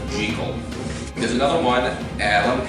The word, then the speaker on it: Jekyll: role as Jekyll and Hyde, or I say Jekyll, because the author Robert Louis Stevenson always insisted that the character's name is pronounced Jekyll.